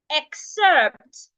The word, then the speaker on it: excerpt: it is been pronounced so that word has two syllable X and sered two syllables so the syllable we are stressing in that word is the first syllable it means we are